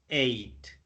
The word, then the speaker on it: ate: Ate. Yes, Okay, remember, ate yes. like the number 8 is the same pronunciation Oh, of like the number 8 is the same.